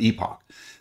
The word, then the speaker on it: epoch: is called Epoch time you might pronounce it epic time tomato tomato but I pronounce it Epoch but Epoch time measures